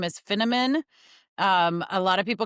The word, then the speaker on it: Finneman: Um, but I usually say it's Finnamon rhymes with cinnamon, but I'm not a spice girl.